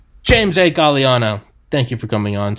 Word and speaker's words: Gagliano: asked before we started galliano galliano the second sicilian the second g is silent james hey galiano thank you for coming